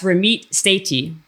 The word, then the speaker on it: Ramit Sethi: It's Ramit Sethi.